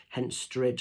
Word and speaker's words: Henstridge: over in hensridge doing Henstridge I always say it wrong hence stridge I think it's how you say it um doing a